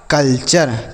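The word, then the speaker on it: culture: है फ्यूचर उसके बाद सी यू एल टी यू आर ई तो यह हो गया कल्चर क्या हो गया बच्चों कल्चर तो टी यू आर ई किसी भी शब्द में रहे तो उसे आपको चर पढ़ना है एल ई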